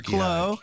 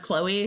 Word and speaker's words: Chloe: And actually, I just I realized I've uh through the email uh my name is pronounced Chloe, so the e you say.